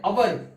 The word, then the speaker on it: hour: Because H sound is not there. Hour.